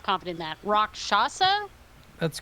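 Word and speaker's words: Rakshasa: answer is no I'm not confident in that rock shasa that's correct na it can I roll religion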